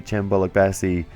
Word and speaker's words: Cem Bolukbasi: are trying to be chambola Bassey uh or uh foreign that is apparently the uh correct pronunciation according to Google translate I don't speak Turkish